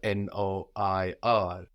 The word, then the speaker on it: noir: have a lot of French commercialized this is is spelled n o i r Noir black or maybe you've seen Le Shir